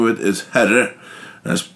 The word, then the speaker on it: Herre: It's a small village, and the name of it is Herre. That's spelled H-E-R-R-E.